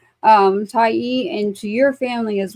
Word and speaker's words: Tyee: So always say Tai. Make sure you say Ty.